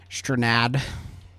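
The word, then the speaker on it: Strnad: Murder fans, but Trevor Snad and I've never pronounced his name was an incredible Stranad. Yes, Stranad.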